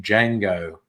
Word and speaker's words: Django: The man apparently goes by the name Django. as in Django Unchained. The D is silent.